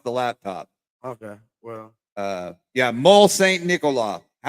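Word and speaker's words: Môle-Saint-Nicolas: How do you pronounce it? Mont Saint Nicolas. How does that go? It's Mole Saint Nicolas.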